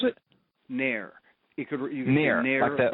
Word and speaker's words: NAEIR: NAEIR. You could NAEIR. NAEIR, like the NAEIR. Yeah. Okay, NAEIR. Yeah, right. Okay, NAEIR is rhymes with share. Okay. That's right. It rhymes with share. NAEIR.